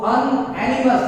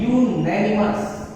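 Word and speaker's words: unanimous: अनएनिमस decision की अगर बात की जाए तो अनएनिमस गलत है, अनएनिमस नहीं कहते हैं, इसको हम पढ़ते हैं यूनैनिमस, और यूनैनिमस यह हिंदी का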